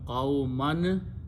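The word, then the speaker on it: قَوْمًا: Again, because qawmun is becoming is a maful of wajada, it will become qawman. When you stop, you say qawma.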